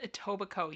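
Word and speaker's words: Etobicoke: yes that word is a toico you don't pronounce the k you don't pronounce the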